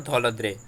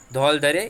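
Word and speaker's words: धौलाधार: ये दोनों बहुत मेन रेंजेस है, पीर पुंजल और धौलाद्रे। ओके, धौलधरे या धौलाद्रे जो भी आप प्रोनाउंस करना चाहते हो।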